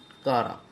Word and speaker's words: Chara: इसको बहुत लोग चारा कहते हैं, लेकिन एग्जैक्ट उच्चारण है इसका कारा।